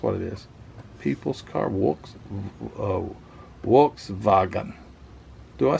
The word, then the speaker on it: Volkswagen: Yeah, actually, if you pronounced it in German, I think it would be the V's are W and the W's are V, so it'd be Volkswagen.